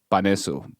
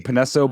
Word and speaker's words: Panesso: guess i guess if you're just like saying it very spanish it's like baniso but uh yeah yeah everyone else is just like panetto but it's crazy how